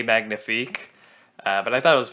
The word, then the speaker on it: magnifique: don't get me wrong I know it's pronounced say Magnifique but I thought it